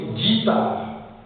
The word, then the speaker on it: guitare: Mais vous faites attention quelquefois, le U ne se prononce pas, c'est la lettre qui suit U qui se prononce. Par exemple, guitare, lorsque U est suivi d'un I, on dit guitare.